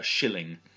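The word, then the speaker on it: scilling: sheep or something was classed as a shilling again as SC so shillings one of the characters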